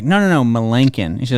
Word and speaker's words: Melancon: Jeremy's last name is Melancon, but Procom, when you call back for callbacks, pronounces it Melancon.